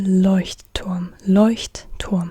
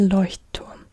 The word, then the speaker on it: Leuchtturm: Der Löwe, der Leuchtturm. Der Leuchtturm. Like it has a double T, like it's made out of two words. Leuchtturm. And that's why a lot of people just say Leuchtturm, but it's Leuchtturm.